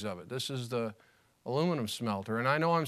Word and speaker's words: aluminium: I spell it aluminium and I say aluminum.